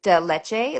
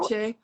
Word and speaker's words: leche: Well, and then I love the Dolce Delete. Like they have that a lot in San Antonio. Leche.